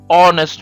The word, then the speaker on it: honest: We use an for nouns where the starting letter H is not pronounced and the second letter O, an R, an honest man.